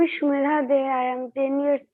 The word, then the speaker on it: Shumedha: Sumeda. I'm sorry, I pronounced your name wrong. Sumeda. Yes, you talked to me, you told me. So my name is Shumedha De.